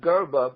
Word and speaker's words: Grba: baseball's fallen angel and the name is Eli garba but it's spelled G rd anyone anyone who wants